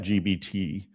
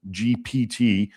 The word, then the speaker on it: GPT: I asked chat GBT. Yeah. Okay. GPT. I know I always say GBT. Okay. I It's a P, I guess. Yes, I can pronounce P BT. I can I can do it. GPT.